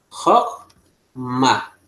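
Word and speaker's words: חָכְמָה: Ten cuenta que no pronuncié el chba, porque el chba cuando va al medio de dos vocales cumple una función de shba divisor de sílaba. No suena vocal. Por eso aquí, olvídense de pronunciar shba. Se pronuncia Jotma.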